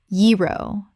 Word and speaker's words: gyro: a sa i acai Word 31 gyro Common mispronunciation gyro Correct pronunciation yee-ro The g makes a y sound. This is a Greek word that kept its original pronunciation.